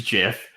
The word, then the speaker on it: GIF: it always was like the guy who created it say it was a jiff like he's right it's like when you name your kids you can pronounce their name any way you want he made it he's allowed to tell me how to say it so yeah I